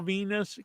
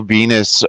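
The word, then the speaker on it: Venis: just realized that uh Val Venus uh's last name rhymes with penis yeah that was the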